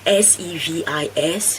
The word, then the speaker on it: SEVIS: then you have to pay a service fee, SEVIS fee, that is how it's pronounced, a service fee, and then you can book your appointment at the embassy.